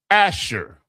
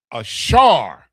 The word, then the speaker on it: Asher: So now, number 8, Asher, H36, H836, Hebrew word number H836. Ashar, right? The the Shah, and the Ra, Ashar, means happy, glad, happy.